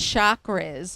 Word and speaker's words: chakra: And different chakras, if people have heard that word, it's called like shock, like a shock. Right, You get right. a shock, chakra, but it's spelled Chakra.